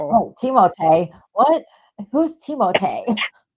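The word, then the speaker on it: Timothée: Oh, Teimote. What? Who's Teimote? That's how he said that's how he pronounced his name because he's French. Teimote.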